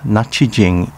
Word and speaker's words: Nakijin: and the churaumi aquarium nakijin village pronounced nachi jing is where nakijin castle